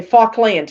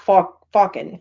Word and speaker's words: Falkland: Okay, Falkland, not Falcon.